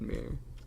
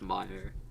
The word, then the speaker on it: Mir: your name right yeah Mir all right I always thought this pronounced Meer in in the script